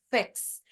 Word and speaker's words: fix: Quase um E, mas não chega a ser. Fix.